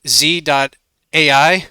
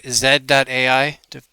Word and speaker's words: Z.ai: Uh, it's at z.ai or zed.ai, depending on if you prefer American pronunciation or British pronunciation.